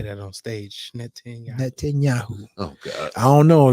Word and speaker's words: Netanyahu: Netanyahu. It's 4 syllables, man. Netanyahu. Yeah, think Net 10 and then think of the drink Yahoo.